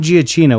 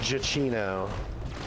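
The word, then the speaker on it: Giacchino: say that guy not it's not Gia Chino we found out he says jacino chichino okay uh like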